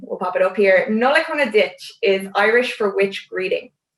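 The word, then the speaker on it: Nollaig Shona Duit: new year happy christmas or happy holidays that's pronounced nolikona ditch if you want to make that plural if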